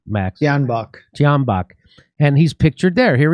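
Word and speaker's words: Tyahnybok: Tianbach.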